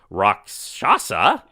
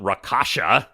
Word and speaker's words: Rakshasa: Want to note that I totally knew that it's pronounced Rakshasa, and not Rakasha, as I was saying before, that James very kindly pointed out to me.